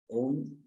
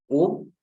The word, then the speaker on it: Om: And O is, when you break down O into different syllables, it becomes A, U, and it's a combination of A, U, and Ma.